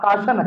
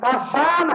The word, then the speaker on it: کاشان: میں نے اسے ایک اور لفظ کہا, بعد میں اس کا صحیح تلفظ اس کو بتا کر دیا گیا. کاشان ہے نام. کیا بھائی؟ کاشان ہے, اس کا معنی صحیح ہے, کاشن کا معنی صحیح نہیں ہے.